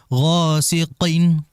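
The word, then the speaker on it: غَاسِقٍ: kalimat itu hati-hati kemudian Gin Gin huruf g ya hati-hati huruf gho di situ ditebalkanin waq gqin idza waqob kemudian hati-hati di huruf q jangan dibas e jangan dibaca seperti Keselek ya gosiqin Qin tidak ghosiin Qin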